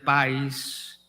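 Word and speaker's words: παῖς: él amaba saber que la palabra creado en griego es una palabra que se pronuncia país que da la idea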